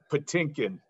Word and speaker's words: Patinkin: Patinkin.